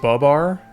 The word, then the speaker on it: Babar: It's pronounced Babar.